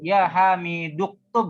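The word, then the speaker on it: يا حامدُ اكتبْ: Uktub ya hamiduk bacanya ya hamiduktub ya Ustaz. Ya, nah. Ya hamiduktub. Ya, Hai Hamid. hada ya hamiduktub. Ya hamiduktub. Limadha naqra'u kadzalik? Li'anna hada hamdatul wasli.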